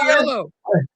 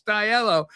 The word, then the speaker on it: DiLello: I'm calling this Richard DiLello. And then Joey Molland he goes he goes that's he goes that's Richard DiLello. He said you're saying it wrong. It's DiLello.